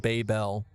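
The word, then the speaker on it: Babybel: Why would they Why would they spell it B- A B Y B L and pronounce it baby bell?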